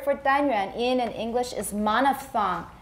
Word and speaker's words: monophthong: If it is just a 单元音,And the word for 单元 in English is monophthong. You can tell by the funny spelling, th. Th, 连续、啊、很奇怪一大堆这个子音 But we pronounce this as one sound.